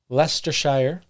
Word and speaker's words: Leicestershire: of hold on hold on I did this pronunciation thing okay leicestershire oh leicestershire England living in a cave in